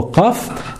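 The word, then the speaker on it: قاف: Alors, pour prononcer la lettre Qaf, donc déjà, il faut savoir que c'est une lettre emphatique, donc c'est pas une lettre amincie.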